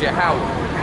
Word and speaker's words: Yahweh: And that's pronounced Yahweh.